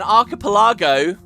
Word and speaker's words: archipelago: know anyway so an archipeline um I hate this word I've always pronounced this wrong I always swap the L and the G I believe is the the G and the L uh an archipelago in